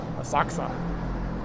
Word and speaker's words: Asakusa: Asakusa. It's like the emphasis is on the different syllables.